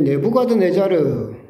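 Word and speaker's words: 네부카드네자르: 이제 네부가드 네자르 옛날 공동에는 느브간네살이라고 있었었는데 이제 역사적으로 그게 이제 발음이 조금 교정되면서 이제는 성경도 네부가드 네자르라고 하는데이 사람은 바빌론 제국의 왕이었습니다.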